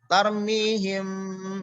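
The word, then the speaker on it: ترميهم: Nah, cara pengucapannya mim tampak samar, bibir tanpa ditekan kuat. Ya, disertai dengan gunnah. Jadi tampak samar. Mimnya tidak terjelas untuk ya. Tarmihim.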